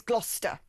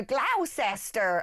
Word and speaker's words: Gloucester: Gloucester is Gloucester. And Americans come and go, Gloucester. And you're like, you don't say Cester, you say Gloucester, right?